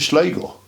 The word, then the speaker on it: Sligo: Equally with S and L, slip, slide. Going to Sligo, even in a place name, it wasn't Sligo, it was Sligo.